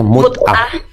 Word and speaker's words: mut'ah: Ya, bacanya mut'ah.